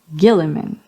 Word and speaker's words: Guilliman: Roboute Guilliman with a hard G.